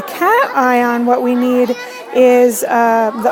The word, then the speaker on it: cation: so cations are positive do pay attention to how you pronounce and I on I on to have a cat eye on what we need is